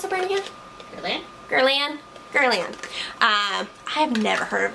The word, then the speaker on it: Guerlain: Next thing here is from, how do you pronounce the brand again? Guerlain.